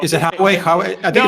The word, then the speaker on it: Huawei: However you pronounce it, I believe it's Huawei is the correct way to pronounce it. I call it Huawei. Is it Huawei?